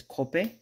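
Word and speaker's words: kope: anglii word for it it's cop k o p a so it's cop that a is a e yeah in Hawaiian it's pronounced e oh we've lost containment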